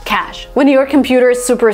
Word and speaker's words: cache: Okay, that, like the spelling here, I would read it cachet, cash, or whatever, because there is an E at the end, but it's actually cash, just cash.